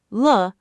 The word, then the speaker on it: 了: La focuses on the event, completion, or change. All right, let's wrap everything up. Zhe, pronounced zhe, means still happening, continuing action, continuing state.